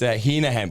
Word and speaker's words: Hennigan: Like, no, it's Heenahan, but like it's spelled Hennigan, so fucking people always say it you wrong.